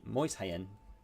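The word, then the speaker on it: Mäuschen: calling my mouse game moisin um which here in Germany means means Little Mouse um and it's pronounced moist like moist without the T and then hien like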